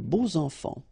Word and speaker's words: beaux enfants: And here it's quite interesting because even if you've got this X, well, phonetically it will be like Z, so like if it would be an S, okay? Les beaux enfants, all right?